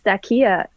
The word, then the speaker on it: Stacia: in your name well that's how that's how she pronounced it stakia that she was just